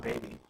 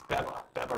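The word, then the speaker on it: Bebe: my name B geta Baba rexa whatever Bea I think it's Bea right it's not bab it's not baby it's be be Rea this is not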